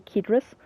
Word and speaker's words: Cedrus: Yeah, Cedrus deodara, or if you want to pronounce the C as a K, Cedrus.